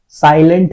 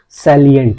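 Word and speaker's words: salient: सैलिएंट। साइलेंट नहीं है, सैलिएंट है।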